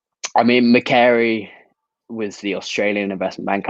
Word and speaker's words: Macquarie: He said it's Macquarie, so I'm going to go with Macquarie.